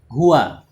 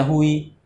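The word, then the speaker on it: هُوَ: Ya, huwa itu sampai kiamat nanti tetap baca huwa. Ya. Nanti kalau di akhirat bertemu huwa lagi tetap bacanya huwa. Ya, tidak dibaca hui. Ya, hiu. Ya. Tetap dibaca huwa.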